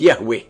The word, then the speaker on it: Yahweh: as I am which in Hebrew is pronounced Yahweh and the almighty continues